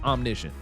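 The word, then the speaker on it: omniscient: It's omnicient, bro.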